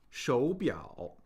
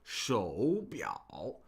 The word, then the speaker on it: 手表: So we see two third tones, which creates, this involves the third tone Sandy rule. So in a word that has two third tones, we pronounce the first of the pair as a second tone. This is for convenience, right? We don't want to have to be like shou biao, shou biao.